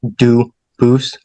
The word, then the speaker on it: Dubus: I know a family with the same exact spelling in America, and they do pronounce it Dubus, but you said you pronounce it Dubus, as the original Dubus, as the original French.